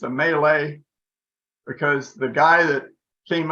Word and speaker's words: Mallet: called a mallet but it's not it's a melee because the guy that came up with this